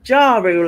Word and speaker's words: Ja Rule: know when you said is it ja rule as in a jar for like putting jam in oh i'm like pronouncing that wrong because i'm right and then the word rule all right so yeah